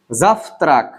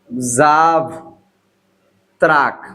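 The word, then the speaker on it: завтрак: তো এখানে দেখেন আমি যেটা লিখলাম জাফত্রাক, জাফত্রাক, উচ্চারণটা হওয়ার কথা জাভ, জাভ ত্রাক, কিন্তু উচ্চারণটা জাভ ত্রাক হবে না, উচ্চারণটা হবে জাফ ত্রাক।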